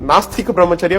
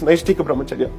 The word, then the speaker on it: Naishtika Brahmacharya: In fact, in the court, most of the time I heard people calling it Nastika Brahmacharya when in fact it's Naishtika Brahmacharya.